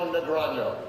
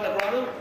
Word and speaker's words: Negreanu: Presenting the next award is last year's Card Player of the Year, Daniel Negreanu. Oh, am I saying that right, Negreanu? Negreanu, how do you say it? Negreanu.